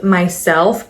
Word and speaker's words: MYSLF: But today I'm reviewing two new fragrances from YSL, actually called Myslf, but it's spelled MYSLF.